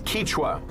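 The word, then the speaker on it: Kichwa: Our guide Carlos is Kichua. That's how it's said here with the letter I, the name of the ethnic group here in Ecuador.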